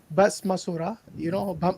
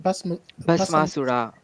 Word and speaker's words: Bhasmasura: Same like Shiva giving the power to Basmasura, sorry, how you say it? Bhasmasura.